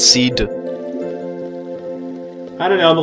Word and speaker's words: SeeD: It's actually a hard D, so it's Seed.